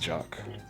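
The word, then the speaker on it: Jacques: jacquez portsman it's prosecuted his name is pronounced jock jack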